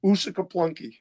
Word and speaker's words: Uusikaupunki: I'm impressed by your pronunciation of that town again. What was the name again? Uusikaupunki.